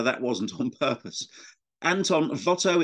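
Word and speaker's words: Watteau: wasn't on purpose Anton Votto it's spelled Votto as if with a V because the part of France he came from had once been Dutch and they had Dutch names he lived from 1684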